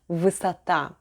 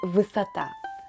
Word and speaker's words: высота: The stress is on the last syllable, so the unstressed letter O is pronounced as A. Combining вы and сата, we get высота.